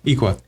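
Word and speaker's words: Aequa: Um, equa. Equa. Equa. The a is silent like the a and Iona.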